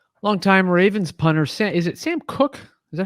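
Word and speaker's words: Sam Koch: Longtime Ravens punter, is it Sam Cook? Is that how you pronounce it?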